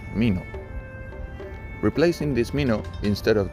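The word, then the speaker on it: 蓑: This mi means fruit, seed, but the straw raincoat that Dokan requested is pronounced mino.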